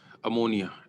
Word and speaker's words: ammine: Similarly अमोनिया NH3, इसका तो नाम अमोनिया है, बट अगर ये लिगेंड का रोल प्ले कर रहा है तब इसको कहते हैं अमीन, AMMINE। 8 है, बस ये ध्यान रखना स्पेलिंग का, AMMINE।